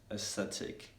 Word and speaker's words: aesthetic: optically realistically academically and one case in which at the beginning of the world the letter a silent is aesthetic and aesthetically in which let's